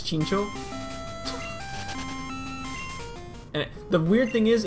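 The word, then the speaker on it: Chinchou: so for some reason I've always pronounced this thing chin shall even though now I know it's chinko and the weird thing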